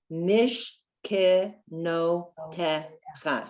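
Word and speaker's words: משכנותיך: So you notice that I stopped the syllable after the first shva, the two dots on top of one another. Mish. That one is a silent shva. And the second syllable is k, like an if, k. Mish, ke, no, te, cha.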